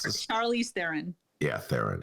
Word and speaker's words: Theron: How do I pronounce this? Charlize Theron. Yeah, Theron. It's Theron.